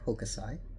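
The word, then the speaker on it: Hokusai: Um, first of all, I was pronouncing his name wrong. Of course, I was using the very westernized pronunciation. It's really Hokasai.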